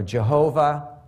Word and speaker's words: Jehovah: Some Christian communities pronounce it Yahweh, right, or Jehovah.